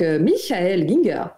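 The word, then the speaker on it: Michael Gienger: certains auteurs, dont justement, je vous le dis à l'allemande, donc Michael Ginger, voilà.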